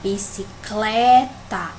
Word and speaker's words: bicicleta: aqui na palavra bicicleta tomo pronunciar bicicleta é o cleia né que é mais forte então eu vou marcar